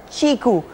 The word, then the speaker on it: QiKU: from a new Chinese company pronounced chiku yes the fruit chiku and the phone in